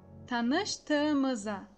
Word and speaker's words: tanıştığımıza: Tem que pronunciar sílaba por sílaba para pronunciar exatamente e corretamente essa frase. Então vamos lá, pronunciando sílaba por sílaba. Ta, nış, tı, ı, mı, za. Tanıştığımıza memnun oldum.